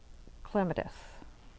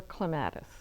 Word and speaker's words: Clematis: And I paired it with Clematis or Clematis, depending on how you pronounce it.